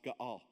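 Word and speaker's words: גֹּאֵל: All right, spelled G-O-E-L, but it's pronounced Ga'al.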